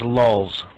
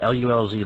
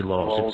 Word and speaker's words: lulz: Rick, it's pronounced lulz. Lulz, L-U-L-Z, lulz. It's not lulz. Don't make the U long. Do it short, lulz.